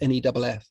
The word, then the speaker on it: Neef: a man called Manfred Max Neef, or Neff, I think it's pronounced Neff, who passed away recently as well.